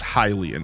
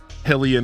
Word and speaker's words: Hylian: it's been confirmed that you pronounce the word as Hilian. It is Hilian descent. Helian is not a thing.